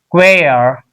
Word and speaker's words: choir: CH in this pronounced qua, qua. Here cha, here cha. But this one queer.